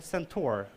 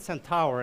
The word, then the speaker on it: centaur: the cyborg or the centaur. I was pronouncing it centaur, and then Graham, like our UK manager, is like, no, centaur. Centaur, right? Okay, good.